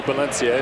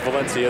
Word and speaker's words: Valencia: You know, we debated all week, is it Valencia, is it Valencia? If you're in Spain, it's definitely Valencia. In the end, we went with Valencia, the American pronunciation of it.